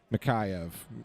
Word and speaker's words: Mikheyev: Mikheyev, I think is really how you pronounce it.